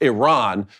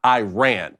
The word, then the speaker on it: Iran: This pseudo-journalist first corrected Adams, citing his country is pronounced Iran, not Iran.